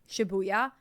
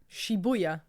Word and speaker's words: Shibuya: live in the town shabuya shabuya roll call I'm there shabuya I would be the mayor sh it's literally the pronunciation that she has is sh buya Shibuya Shibuya shuya shuya roll call